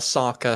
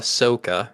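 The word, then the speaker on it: Sokka: they call aang ong they call saka soka and they call iro eero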